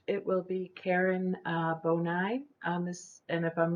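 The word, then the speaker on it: Bonime: miller uh next it will be karen uh bonai um this and if i'm mispronouncing your name i'm sorry um i've unmuted you can you hear me miss bonai yes my name is karen bonim i live in albuquerque new mexico okay thank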